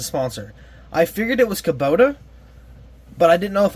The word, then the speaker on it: Kubota: know that but I didn't know how to pronounce the sponsor I figured it was Kubota but I didn't know if I was right